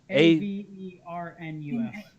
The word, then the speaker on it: Avernus: Okay, can someone spell that just so I get it right? Avernus.